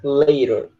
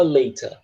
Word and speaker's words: later: Você pode, se tu quiser pronunciar que nem americano, eles falam later. Se quiser pronunciar igual britânico, fala later, tá? É só uma questão de troca de fonema.